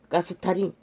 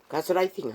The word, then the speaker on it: 가스라이팅: 뇌를 통해 철저하게 그들을 가스타링 합니다. 가스가 아니고 이 경상도 발음이 자꾸만 이렇게 강하게 나가서 그렇나? 가스라이팅 하는 것입니다. 가스라이터 가스라이팅 하는 것입니다.